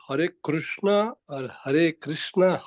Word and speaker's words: Krishna: say Krishna properly yeah see it's not Krishna that is completely wrong uh that actually some some different from Gujarat in Gujarat also they pronounce it krushna krushna but that is wrong uh we pronounce it as H Krishna har har Krishna so it's not completely re